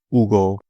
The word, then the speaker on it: Hugo: I had the pleasure of getting to know the founder behind Hugo Yerba Mate, or Hugo Yerba Mate, because the H is silent in Spanish, but it's spelled Hugo.